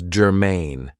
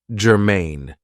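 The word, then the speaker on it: germane: have for you is Germain now this is two syllables and the stress is on the second syllable Germain it means that something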